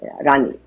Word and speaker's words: Rani: It was called Rani, R-A-N-I, Rani, but in French it's Rani.